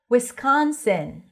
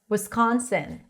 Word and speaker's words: Wisconsin: Wisconsin. Wisconsin. You can also pronounce it with a schwa at the beginning. Wisconsin.